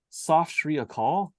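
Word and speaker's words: Sat Sri Akal: It's like phonetically, it's like Soft Shri Akal.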